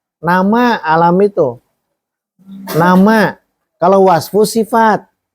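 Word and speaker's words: علم: mau nama apapun juga ini bacanya alam ya bukan ilmu tapi alam nama diri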